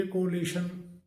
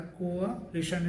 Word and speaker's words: coalition: है, गठबंधन सरकार का, उसके लिए कोलिशन, गवर्नमेंट, इस तरीके से बोला जाता है, कोअलिशन, जबकि इसका सही जो प्रोनाउंसिएशन होता है कोअलिशन, इस तरीके से होता है।